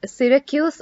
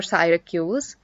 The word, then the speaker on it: Syracuse: be a little difficult this is pronounced syracuse or syracuse this word is demon